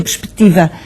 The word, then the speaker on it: perspectiva: uma consoante muda eh olhe por exemplo perspectiva se tira o c eh uma vez que a palavra tem a sílaba tónica no ti eh esse c tinha tinha ali uma função que era abrir a vogal anterior perspectiva sem o c fica perspectiva daqui e como estas Há